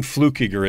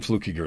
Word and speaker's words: Fluckiger: he says my name right every time flukiger it's so funny I've lived my whole life